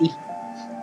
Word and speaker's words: Edie: And Eddie Finch. Who was Eddie? Oh, we didn't get to Eddie, the girl. Edie, it's Edie. It's pronounced Edie.